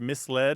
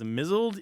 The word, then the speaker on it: misled: you're not alone and the number of people in the world who pronounce the word misled is mled is vast oh oh I like